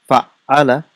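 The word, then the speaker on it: فعّل: How do we pronounce it? Fa'ala. And how is it written? It's written with shadda.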